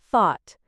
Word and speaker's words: thought: tricky to say correctly like thought remember to stick your tongue out slightly for that th sound another challenging one is